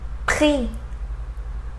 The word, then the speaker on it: prix: Let's see examples with final D that we don't pronounce either. Allemand, allemand, grand, grand. Final X, prix, prix.